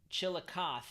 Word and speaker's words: Chillicothe: Chillicothe. There we go. Thank you. All right, don't laugh. Don't laugh at the pronunciation.